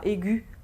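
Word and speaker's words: aiguë: C'est le cas par exemple pour aigu au masculin, au féminin on mettra aigu avec un tréma sur le E qui ne se prononcera pas.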